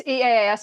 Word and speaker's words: EaaS: Do you pronounce it EaaS? How do you abbreviate it? It's EaaS. It's my play on software as a service.